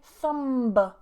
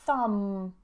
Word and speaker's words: thumb: So normally when we have this combination of MB, we don't release that sound into a B. Okay? What do I mean? I mean, I don't say thumb, thumb. Okay? But I say thumb, thumb. So just imagine the B is not there.